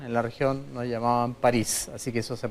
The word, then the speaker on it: Paris: Oiga, ¿su apellido se pronuncia París como la ciudad? Sí. ¿Y por qué todos le hemos dicho París durante todo este tiempo?